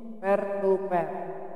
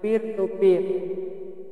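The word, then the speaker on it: peer-to-peer: Selanjutnya ini adalah tipe jaringan yang paling sederhana, namanya topologi pair to pair atau bacanya peer to peer.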